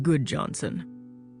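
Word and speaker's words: Gudjonsen: My name is Good Johnson, spelled G U D J O N S E N, but pronounced Good Johnson. Am I supposed to recognize your name, Mr. Good Johnson?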